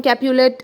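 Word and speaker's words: Capulet: is from Montek family and जूलियट is from कैपुलेट a family Romeo मटग एंड जूलियट कैपुलेट okay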